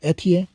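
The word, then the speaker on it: Étienne: It doesn't have the tilde on the E right here, but her name is spelled with the tilde on the last E. So Etienne.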